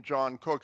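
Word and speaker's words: Jno Cook: you've got the John, he spelled his name J-N-O. The gentleman died here like about a couple of years ago. He pronounced his name John Cook as if it was J-O-H-N, right?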